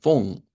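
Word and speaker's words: von: En este caso estaríamos usando esta o como en en fon. Esta palabra se pronuncia con una f.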